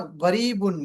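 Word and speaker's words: قريب: আর আঞ্চলিক আরবিতে jump, jump অথবা গরিবুন মিন, গরিব মিন, গরিব, বা এটাকে শুদ্ধ আরবি মানে শুদ্ধ উচ্চারণ যদি বলেন তাহলে করিবুন মিন, কিন্তু আঞ্চলিক আরবিতে বলে গরিব মিন, গরিব মিন।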